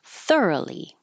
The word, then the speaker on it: thoroughly: was the adverb thoroughly the O changes to a because it's in the unstressed syllable second to the end thoroughly sluggish sluggish uh there